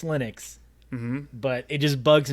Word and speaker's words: Linux: it should be pronounced I know that lonus himself said its Linux mhm but it just